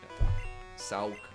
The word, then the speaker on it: Sawk: Hence the name, like, Sark and then... Yeah. Sauk. Yeah, Sawk. And it's spelled like hawk, but with an S.